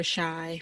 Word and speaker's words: Chi: Isn't Yeah. it pronounced the Chi? I think it's Shy, like as in Chicago. Chi-Town. Yeah.